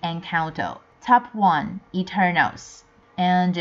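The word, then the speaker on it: Encanto: again top two enconto I realized that I pronounced it wrongly last week sorry about that it should be encount top one eternals and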